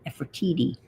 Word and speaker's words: Nefertiti: And it is pronounced Nefertiti, not Nefertiti. No one wants to say titty, but it's Nefertiti, according to a history teacher I know.